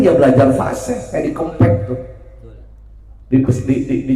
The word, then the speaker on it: Kempek: Kan tulisannya K E M P E K. Orang yang enggak tahu itu huruf E bacanya apa? Kempek. Benar, Pak. Ini mah e tulisannya K E berarti kek di depannya M jadi kempek atau pakai E dua-duanya jadi kempek.